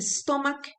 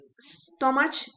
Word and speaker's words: stomach: you you have a stomach ache now stomach is another word that we usually pronounce wrong stomach is wrong stomach is wrong it is always a stomach a strong Cas sound and then we have